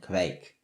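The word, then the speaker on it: Kveik: This is a 100% Colorado grown malt beer brewed with Quake, or I think the ways to pronounce it are Quake and Quake, and 6%.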